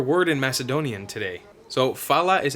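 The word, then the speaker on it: фала: here get your word in Macedonian today so fallout is how you say thank you if you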